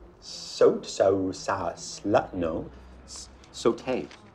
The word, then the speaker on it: Sault: You must be Salt. Soat, so, sa, slut, no. Saute. S-A-U-L-T, like Sue.